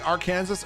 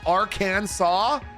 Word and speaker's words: Arkansas: Uh, some people from our Kansas actually really dislike people saying R Kansas and they want it pronounced Aransaw.